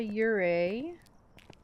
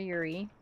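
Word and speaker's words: Yurei: It is also probably not a Ure or a Yuri, depending on how you want to pronounce it, since the door didn't fully close.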